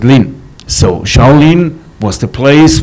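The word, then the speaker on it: 林: And two trees are a wood in Chinese language. You pronounce it Lin.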